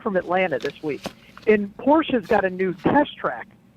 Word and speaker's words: Porsche: I kid you not, we had a 30-minute fight out of how to say the word Porsche. Oh. He's like, Porsche.